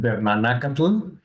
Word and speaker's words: Bernanacatl: And yeah, you pronounce it Bernanacatl, and it's a name that comes from a mix from my name, which is Bernardo or Bernard, and Nanacatl, which means flesh of mushroom or flesh of fungus